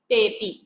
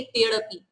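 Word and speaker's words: तेऽपि: अवग्रह का उच्चारण नहीं होता, इसे हम क्या बोलेंगे, तेपी।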